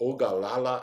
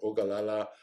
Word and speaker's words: Ogallala: you just um google high plains aquifer or ogallala aquifer or ogallala is spelled o g a lla and they'll give